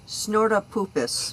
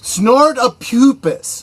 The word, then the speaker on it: Snortapupus: It's pronounced Snortapupus. Snortapupus. Snortapupus Q Burr. That's Snortapupus. Like you're smelling poop.